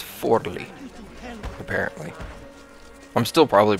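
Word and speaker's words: Forlì: the way I realized I've been pronouncing the city wrong this whole time it's not Floy it's forly apparently I'm still probably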